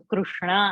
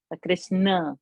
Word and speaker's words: Krishna: So Krishna, I have to say, not Krishna. It's not Krishna. Not Krishna. Krishna.